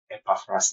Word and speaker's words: Epaphras: This is the right way to pronounce the name. Epaphras is just simple, Yeah, it is actually.